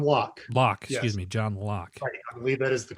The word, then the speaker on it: Locke: by a gentleman by the name of john lockey absolutely john locke lock excuse me john locke i believe that is the correct pronunciation it's john locke okay so he the